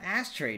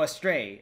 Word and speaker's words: Astray: then yeah we have ashtray now oh a stray i keep calling it the other way astray is the right way to pronounce it i believe according to google translate a straight yeah all